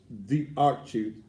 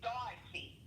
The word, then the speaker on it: D'Archie: Yeah, he put that, he pronounced it like Darcy.